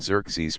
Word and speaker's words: Xerxes: had a son named xeres pronounced as if it began with a when I was a